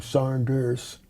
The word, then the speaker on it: Saunders: didn't pronounce my name Sanders like we do, but they spelled they pronounce their names with the same thing on the end sound which is almost like a Z sound on the end.